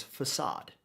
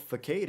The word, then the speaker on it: facade: like a wall and its name is facade and it is spelled facade f a c a d e and and I was like okay I don't know what fade is but I'm fighting fade out here and then I